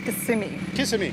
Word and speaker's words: Kissimmee: Kissimmee. The right pronunciation is Kissimmee. Kissimmee.